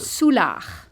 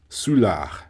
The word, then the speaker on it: Soulard: Soulard. Soulard.